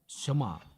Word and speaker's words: Shema: Kata pertama dari Shema adalah dengarlah atau dengarkan, yang dalam bahasa Ibrani diucapkan sebagai Shema.